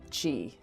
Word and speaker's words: Qi: chinese way of spelling qi she is like the energy inside you in case you have